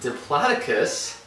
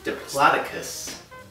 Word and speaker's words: Diplodocus: Okay, Jason, it's pronounced Diplodocus. We went over this. Like I was saying, this Diplodocus. Jason, it's Diplodocus.